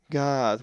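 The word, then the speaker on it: Γάδ: So this word is pronounced God with the soft ga sound.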